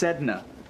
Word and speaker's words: Sedna: Pronounced Sedna.